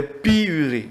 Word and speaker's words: pyurie: Les pyuries dont vont survenir. Comme ça, on s'entend ça, ça s'écrit comme ça.